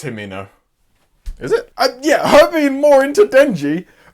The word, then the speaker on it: Himeno: It's Himeno.